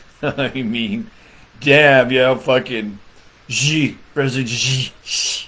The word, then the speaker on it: Xi: I mean, damn, fucking President Xi. You're supposed to say it like you're smiling.